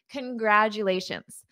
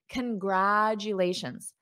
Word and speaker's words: congratulations: congratulations repeat after me congratulations so notice this first sound is an unstressed con congratulations congratulations congratulations repeat after